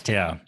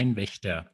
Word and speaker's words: Kleinwächter: Kleinwächter. Yeah, Kleinwächter. Now, please, everybody watching this, try to pronounce it Kleinwächter.